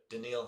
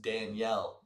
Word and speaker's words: Danielle: Denil Hunter very good. I I've always said this, the scariest Danielle that you've ever seen. Denille Hunter. He spells his name Danielle's said Denil.